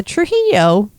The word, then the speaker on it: Trujillo: Yeah, Man, I even wrote it phonetically for you. that's how, yeah, Trujillo.